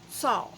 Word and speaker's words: Tso: or say it because the way it's spelled does not sound like nothing like it is it's tso general saw and it's an amazing